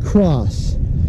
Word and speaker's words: XOSS: I really do like my, well, I pronounce it Cross. The company's name is XOSS.